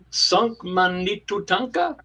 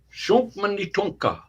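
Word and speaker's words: Šuŋkmanitu Tȟáŋka: Sunk Manitu Tanka. Very good. Close. Very good. Very close. It's just Very close. just a shunk mani Shunk. futanka. Shunk Manitunka. Yeah, and that is Shunk simply Manitunka.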